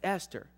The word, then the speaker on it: Esther: We have told him 10 times, it's not Easter, son. It's Esther.